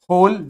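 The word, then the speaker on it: whole: वी met every day फॉर अ होल week, इसको पढ़ते हैं होल, ठीक है, W का कोई प्रोनाउंसिएशन नहीं है, इसको बोलेंगे होल।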